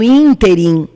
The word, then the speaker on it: ínterim: a palavra por exemplo ínterim que significa nesse meio tempo nesse espaço de tempo tem acento no primeiro i in team ela é uma proparoxítona real lembra do mapa da